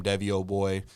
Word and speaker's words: Devyyyoboy: I'm pretty sure it's all just my name Deo boy uh tell people how to spell that by the way that's how do you